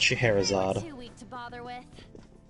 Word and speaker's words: Scheherazade: Am I even pronouncing Scheherazade right? No, but I'm not gonna fault you as much for that. It's Scheherazade.